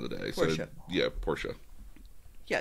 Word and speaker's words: Portia: Plays Little Miss and Portia. Okay. So it is the same person at the end of the day. Portia. So, Portia. Yeah, it's spelled Portia, but it's pronounced Portia.